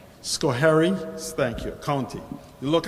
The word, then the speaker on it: Schoharie: Scolari, how is that pronounced? Schoharie, thank you, county.